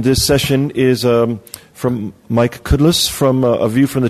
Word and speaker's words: Kudlas: - which is awesome it's actually Cutlass just remember a cow that can't spit so cud less and that's how you pronounce it but over the